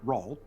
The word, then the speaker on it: Rawl: Rawl specifically, it's spelled like Paul but with an R.